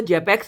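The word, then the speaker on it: Czapek: तो एक मीडिया हमारा हो गया ब्रेन हर्ड इन्फ्यूजन BHI अगार मीडिया, और दूसरा हमारा हो गया यहाँ पे, अब सी साइलेंट बोलो, जेपेक्स अगार मीडिया।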